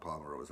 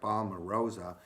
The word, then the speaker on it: palmarosa: palm rosa you know the name actually rhymes with rose right palmer rosa and it actually has